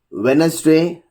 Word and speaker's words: Wednesday: And especially if you come to rule 2, D is not pronounced in the following common words: Wednesday, handsome, handkerchief, sandwich. We are not saying Wednesday, so D is silent here.